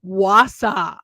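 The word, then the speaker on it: Wausau: I first saw it, I pronounced it Wasa. And the guy that I knew that lived there, he was like, "It's Wasa." And I was like, "Okay." He's like, "Does it even look like Wasau?"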